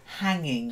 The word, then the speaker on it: hanging: work okay then hanging there's no GA in it it's just hanging hanging try a bit